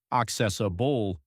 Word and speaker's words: accessible: Sure, it's pronounced accessable with stress on the second syllable.